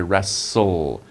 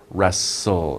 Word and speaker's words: wrestle: right let me say wrestle wrestle it's like you don't even pronounce the T wrestle the T is silent but they are wrestling